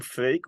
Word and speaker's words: Freek: So yeah, I'm Freek, which is a Dutch name. You can pronounce it Drake with an F. It's probably the easiest way to do it.